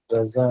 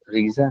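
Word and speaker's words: Raza: रहती है, क्या करते हैं रजा है, रजा। उड़ीसा। रीजा नहीं है, रजा है।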